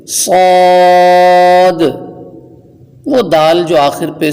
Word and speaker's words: صاد: وضاحت کر دوں کہ جب ہم ہجے کریں گے تو صاد پڑھنے میں اس کا آخر حرف دال آتا ہے، اور دال حروف قلقلہ میں سے ہے، لہٰذا اس بات کا خیال رکھیے گا کہ جب ہجے کریں تو صاد نہیں بلکہ صاد، وہ دال جو آخر